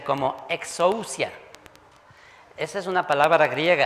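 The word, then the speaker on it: ἐξουσία: La palabra griega que utilizó para decir toda autoridad es una palabra que se pronuncia como exousia.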